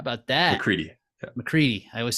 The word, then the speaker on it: McCready: Hawk call fifth Samuel A Bear six Tyler McCreery how about that McCready I always say it wrong Tyler McCready seventh